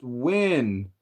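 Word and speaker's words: Nguyen: It's pronounced win. Vietnamese last name rough pronunciation is win.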